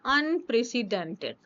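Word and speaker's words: unprecedented: अनप्रेसिडेंटेड। अन, इसको देखो ऐसे लर्न करेंगे, अनप्रीसीडेंटेड। ठीक है, स्पेलिंग लर्न करना कोई प्रॉब्लम नहीं है।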